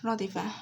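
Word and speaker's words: رَدِفَ: Radifa consists of three letters. The first one is ra. Ra with a fatha over it is pronounced as ra. Dal with a kasra below it is pronounced as d. And fe with a fatha over it is pronounced as fa. So it becomes like that. Ra, di, fa. Ra, di, fa. Radifa.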